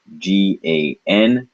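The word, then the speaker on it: गंदगी: So it is the N pronounced where the tongue touching the teeth. How do we know that? Well, then 2 lessons ago, we learned it's because we follow what comes after, which is a the with the tongue touching the teeth and nowhere else in the mouth.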